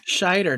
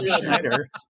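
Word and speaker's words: Scheider: Not Shider, not Schneider.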